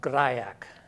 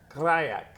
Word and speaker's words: Grajek: Last name is pronounced Grajek. Grajek.